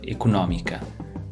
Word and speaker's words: económica: So you're either flying "executiva" or "económica". That's funny. In English we stress the ec-O-nomy part, but you guys stress the other syllable. Eco-nÓ-mica. You stress the syllable with the accent.